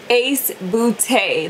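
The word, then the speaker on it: Ace Beauté: had to include it actually asked them how to pronounce it and they did tell me so I will have it right here so that way you can see ace bootay that is how you pronounce the the name of the company but look the shades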